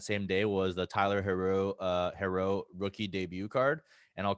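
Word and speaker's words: Herro: I don't fucking know how to say his last name, dude. It's Hero. Yeah, whatever the fuck his name is. I've been calling him Tyler Haru for like ever, dude.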